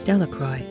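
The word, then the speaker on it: Delacroix: The villagers pronounced his name as Delroy, eventually made a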